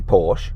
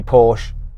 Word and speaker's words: Porsche: Tell me how you say Porsche.